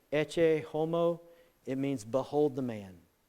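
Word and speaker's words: Ecce homo: is a picture called I'm not good at Latin but I think it's pronounced e homo it means behold the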